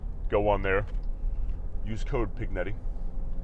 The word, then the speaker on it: Pignetti: on there use code pignetti it's pronounced pinetti but you guys will forget to put the G in there so p i g